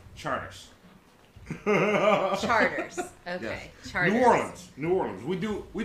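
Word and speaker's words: Chartres: but it's felt like chart rest yes CH AR T are pronounced like charter cruise charters sorry norms we do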